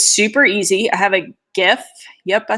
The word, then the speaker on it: GIF: I have a GIF. Yep, I said it, Caitlin. There's the GIF. She's my team hard G.